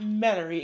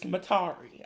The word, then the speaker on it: Metairie: didn't she also say it's not Metairie, it's Matari?